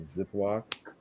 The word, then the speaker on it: Ziploc: It's called Ziploc. Okay. It rhymes with brick lock, so it's like There's a big old boom for the figure.